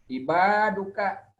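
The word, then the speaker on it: عِبَادُكَ: Ibaduka atau ibadika atau ibadaka. Ibaduka. Betul, dalnya doma.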